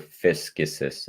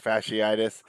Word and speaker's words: fasciitis: miss extended time with plantar fascist in his right foot plantar fasciitis i probably butchered that word yeah it's fasciitis um but regardless if